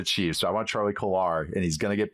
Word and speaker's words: Kolar: Kolar. Charlie Kolar.